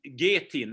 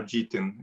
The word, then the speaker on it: GTIN: this is um that it's called getin isn't it sort of a global trade item number is the name so gtin is how we how our american friends uh pronounce it for us yeah global